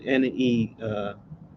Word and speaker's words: Nerva: I mean N-E-R-V-A. Like instead of nervous, just switch the us with the A.